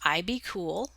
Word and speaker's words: IBKUL: It's spelled IBKUL and pronounced IBCool.